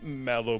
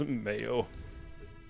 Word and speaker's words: Mayo: Well, everyone called him Mallow, but the correct pronunciation that he always tried to remind others of was Mayo.